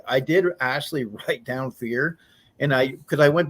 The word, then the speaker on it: Fir: hard to pronounced but it's it's fire right is that is that how it actually is pronounced fear oh fear okay it's a Dutch word that's okay it's all